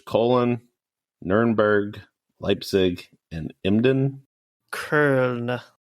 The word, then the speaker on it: Köln: Köln. What is it? Köln. Köln. Or Köln, you could say, I guess. Köln. Usually German pronunciation's decently easy. I don't like that one. Or you could go French and call it Cologne.